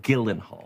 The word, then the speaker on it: Gyllenhaal: Camila Cabo Gillen Hall your name is pronounced Gillen Hall I guarantee you it